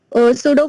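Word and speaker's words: pseudo: in frame of reference सूडो force सूडो force ठीक है P silent so force कह सकते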